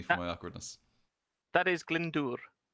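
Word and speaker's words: Glyndŵr: so save me for my awkwardness that is glendur glendor there you go yes exactly um owen glendor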